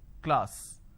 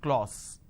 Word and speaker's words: class: K Le ah sir class this is how the pronunciation is but people make a mistake they say Le all so instead of saying class they end up pronouncing this as clause okay now why does